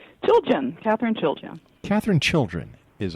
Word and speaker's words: Chiljan: Did I say it right, Catherine? Chiljan. Chiljan. Chiljan. Yeah. All right. Chiljan. Chiljan, right. Chilly in January. All right. So chilly in January.